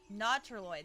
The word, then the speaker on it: Nautiloid: Nautiloid, that's how you say it.